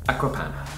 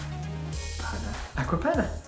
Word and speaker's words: Acqua Panna: But we pronounce it San Pellegrino. San Pellegrino. Pellegrino. Another fancy water. Acqua Panna. Acqua Panna. Acqua Panna.